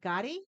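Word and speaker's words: Gotye: Got Gotti. G O T Y E.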